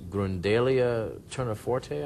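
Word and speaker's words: Gundelia tournefortii: Now there was I was reading that there's a pollen on the shroud that Yuri Baruch has verified as being from Grundalia turniforte, I believe is how you say it.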